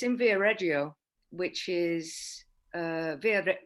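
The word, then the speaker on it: Viareggio: in the winter i think um it's in via reggio which is uh via via reggio is that the correct pronunciation yeah uh not far from here okay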